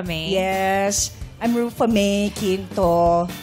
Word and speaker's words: Quinto: Yes, I'm Rufa May Quinto. Not Canto, but not Ginto, but Quinto. Yes, it's spelled Quinto.